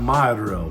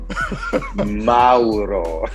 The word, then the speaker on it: Mauro: more and it was just great to have Mao porini on the Unleash Your greatness within podcast and I know I'm pronouncing his name a little bit wrong but